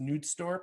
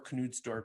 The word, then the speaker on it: Knudstorp: So basically this new guy who came in, I think his name is pronounced Knudstorp or Knudstorp, used the help of finance director to run an in-depth financial analysis and product line.